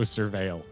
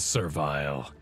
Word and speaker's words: Surveil: Gathering, so I know Surveil. Oh, is that how it's said? That's disappointing. Why? Well, because I thought it was Servile.